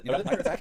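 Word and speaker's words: MITRE ATT&CK: Yeah, MITRE attack, right? So it's spelled oddly, ATT_CK, and this is from the MITRE organization.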